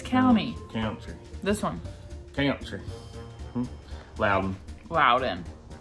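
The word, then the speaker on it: Loudon: what no it's County this one okay loud loud in say it again well then wow then it's not lewd on some people say Lou Don no they don't yes they do these are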